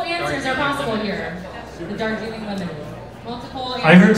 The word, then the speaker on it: Darjeeling: Darjeeling, like the tea.